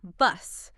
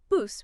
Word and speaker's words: bus: This seems simple, but many learners mispronounce the short U vowel sound. They might make it sound like bus using an ah sound, like in hot, or bus with a long boo sound.